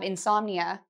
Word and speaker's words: insomnia: So the pronunciation: "in-som-ni-a", so it's four syllables, "in-som-ni-a".